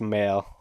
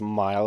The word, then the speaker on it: Mael: It's Male. we're Fucking heading dumbass. It's back. not pronounced Mile. It's Male.